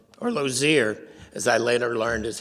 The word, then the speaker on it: Lozier: go that route we found another Charlotte Denman loser or Lozier as I later learned is how her name is pronounced she was one of the first graduates